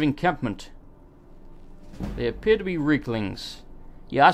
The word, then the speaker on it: Reekling: They appear to be Reeklings.